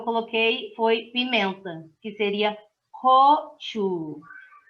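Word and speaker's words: 고추: A terceira palavra que eu coloquei foi pimenta, que seria gochu. Vocês repararam que o CH, eu estou soltando o ar nele, porque ele é aspirado, então seria gochu.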